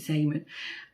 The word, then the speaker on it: Zeeman: We have a local sort of budget kind of store here in the UK, in the Netherlands, called Zeeman or Zeeman. You pronounce it Zeeman.